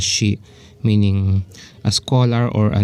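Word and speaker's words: 士: The first kanji means is being pronounced as shi, meaning a scholar or a noble gentleman, scholar.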